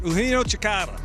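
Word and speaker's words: Eugenio Chacarra: Eugenio Chikara.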